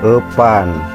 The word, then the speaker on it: epan: Jadi sekarang dibacanya epan ya. Bahasa Sunda itu epan.